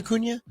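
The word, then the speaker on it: Acuña: And he says, "Bro, it's Akunia, not uh Lewis Angel." Who' I say? Did I say Akunia?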